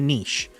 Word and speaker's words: niche: refer to this as focusing in on a niche or Niche it's the endless debate pronounce it however you want now since